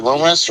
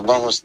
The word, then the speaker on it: Lumis: Is it Dexter Lumis or Lumis? Dexter. You said it right the first time.